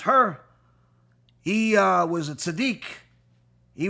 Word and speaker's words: Hur: Hur, that in English is is pronounced Hur, he was a tzaddik.